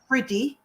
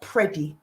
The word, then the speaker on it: Priddy: because the surname is spelt with an I, not an E. Mm-hmm. It's Priddy and not Preddy.